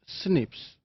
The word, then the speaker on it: SNPs: single nucleotide polymorphisms or snps commonly pronounced as Snips they are single base